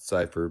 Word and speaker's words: Cypher: I pronounce it Cipher, but it's only like That's fine.